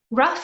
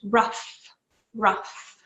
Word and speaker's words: rough: or is it rough rough is one of those interesting words in English that ends in gh we pronounce it like an F sound ruff ruff moving on we can